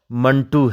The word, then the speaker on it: منٹو: وضاحت ضروری ہے کہ منٹو کا تلفظ 1-2 کے وزن پر ہے، اور اس بارے میں ڈاکٹر انور سجاد کا کہنا ہے کہ بعض لوگ اسے منٹو یا منٹو کہتے ہیں، جبکہ صحیح تلفظ منٹو ہے۔ حرف آخر کے طور